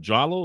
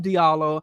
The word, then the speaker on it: Diallo: known as Is it Jalo? Is that how you? Bro Diallo. Brother, no, you said the proper pronunciation of It's Diallo. Diallo. I thought you said Jalo.